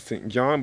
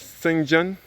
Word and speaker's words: St John: John which we in which is the correct pronunciation we may refer to as St John but it is supposed to be pronounced as singun I never even knew that until the day